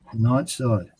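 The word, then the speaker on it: Nightside: He wants to do night side, so Night side. is it night side? I'm not saying the name wrong, am I? No, you're right. Yeah, That's right. That's right.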